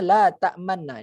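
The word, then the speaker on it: تأمنّا: Cara membacanya la ta'manna di bawah itu. Jadi cara membacanya la ta'manna sambil mencucu atau memanjangkan kedua bibir ke depan pada pertengahan gunnah.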